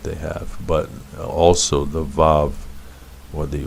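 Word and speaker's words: ו: The Wa allows you to have the O sound and the U sound, O and U, and which is further clarification about the insidiousness of the Vav. How are you going to get O and U from a V sound?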